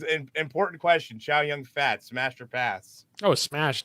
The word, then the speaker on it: Chow Yun-Fat: Now they've settled on Chow Yun-Fat.